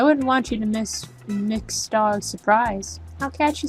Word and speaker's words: Mx: it's like introductory scene usually pronounced mix is an English language